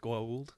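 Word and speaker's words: Goa'uld: The gold is the little... there's an apostrophe in there. It's pronounced gold.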